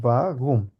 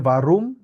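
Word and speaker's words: warum: দেখি বাঘুম বাঘুম এক্সাক্টলি বাঘুম অনেকটা হ এর মত উচ্চারণ হয় বাঘুম বুঝতে পারছি ভাইয়া মানে গলা থেকে আসে সাউন্ডটা সাউন্ডটা গলা থেকে আসে বাঘুম কেউ যদি বলে বারুম ওইটাও হবে কোন সমস্যা নাই ভুল নাই ওইটাও ঠিক আছে প্রোনাউন্সিং এর সাথে আচ্ছা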